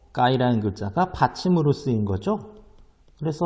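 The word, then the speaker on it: ก ไก่: 어, 장모음입니다. 길게 발음하는 어를 넣어서요.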